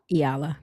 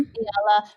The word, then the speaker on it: Eala: Um, I don't know how to say her name, Rashina, but Alexandra, you said it's Eala? Iala. Mm-hmm. Eala from the Philippines.